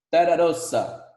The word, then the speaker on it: terra rossa: vermelhinha, eles chamaram esse tipo de solo de terra rossa. Vamos lá, pronúncia.